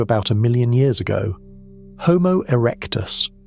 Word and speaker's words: Homo erectus: Homo erectus, pronounced h o h m o erectus, is the dominant human on the planet.